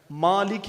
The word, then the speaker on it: مالک: جو قرآن نازل ہوا، اس میں دو طرح کی تلفظ ہے۔ مالک یوم الدین، لفظ ملک بھی ہے۔ ملک کا معنی